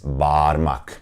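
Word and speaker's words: parmak: be pronounced and some people still pronounce it that way but it is wrong the correct pronunciation is barmak and again you hear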